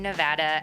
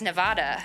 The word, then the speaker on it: Nevada: raised and taught in school that it was Nevada and boy was I wrong it's actually pronounced Nevada and it took me so long to figure